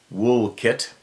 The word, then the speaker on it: Walcott: first story took place a town called Walcott pronounced wool kit why don't they spell